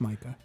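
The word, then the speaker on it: Maika: it stars Dan Stevens Micah Monroe I think I pronoun pronounced that right does anyone know if that's right I don't know m a i k a m m m that's Micah okay it's not it's not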